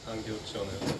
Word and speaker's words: Angel Chonev: In Bulgarian, it's said Angel Chonev.